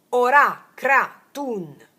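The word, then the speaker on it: Ora Kratun: Tu devi caricare quest'acqua pronunciando il mantra ora. Ora cratun.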